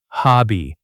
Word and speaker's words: hobby: The stress is on the first part, HOB by.